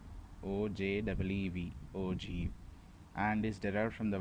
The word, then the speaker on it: ogive: The term OGIV is pronounced as OGIV, O-J-E-E-V, OGIV, and is derived from the word OGI, O-G-E-E.